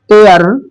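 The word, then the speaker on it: heir: से प्रारंभ होता है नेक्स्ट एयर प्रारंभ एच से है बट इसका प्रोनाउंसिएशन ए से होता है।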